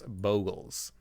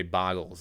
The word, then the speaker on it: Bogles: I know I have one moderator of the stream, Jenstakov, who hates when people mispronounce Bogles, when they say Boggles instead, or when they say Hojak instead of Hogak.